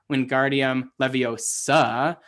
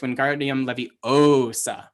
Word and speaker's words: Wingardium Leviosa: She says it is not Wingardium Leviosa, it's Wingardium Leviosa, right? And he can't get the spell to work because he is stressing the wrong syllable.